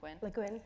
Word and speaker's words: Le Guin: Le Guin, yeah.